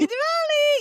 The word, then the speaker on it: Diwali: Ricky was just telling me about um her holiday today, Dvali, right? Did I say it right? Happy Dvali. Happy Diwali.